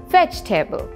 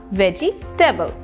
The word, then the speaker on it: vegetable: regularly to practice curing the correct word is vegetable not veggie table tala mashikinilam vegetable word